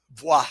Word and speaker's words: bois: The name Sleepy Boys came from this idea of we But didn't it's want to like pronounced bois buy in French.